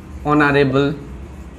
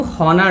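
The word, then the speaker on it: honour: আমার vowel sound হয় একেদরে অনার হয় এইটো হনার নহয় অনারেবল আওয়ার এয়ার এনেকুৱা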